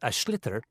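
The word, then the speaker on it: sliotar: get this ball called ash litter that's SL IOT a or so it's not spelt the way it's pronounced u his ears into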